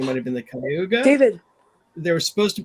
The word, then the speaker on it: Cayuga: Is that how it's Oh, pronounced? remember? Oh, Look. Okay, you it's good? close. Cayuga Nation.